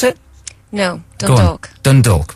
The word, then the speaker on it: Dundalk: You were born in Dundalk in Ireland. Is that how you pronounce it? No, Dundalk.